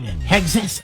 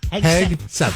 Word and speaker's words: Hegseth: For Pete Hegseth. How do you say his name? Hegseth. Just like it's spelled.